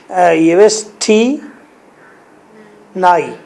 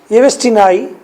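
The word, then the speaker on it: Yevstigney: Well only folia and येवेस्टी नाई, जी को silent कर दे, येवेस्टी नाई एंड ओल्ड खाप, ये कौन है?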